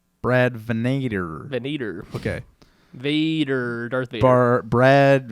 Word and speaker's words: Venator: Is that how you pronounce it? It is. Okay. Right on the dot. Brad Venator.